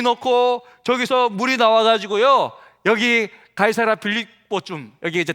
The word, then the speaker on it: 가이사: 영어 철자가 보니까 C를 이제 기역으로 발음해서 가이 SAR 사, 이게 한국말로 그대로 음력한 거예요.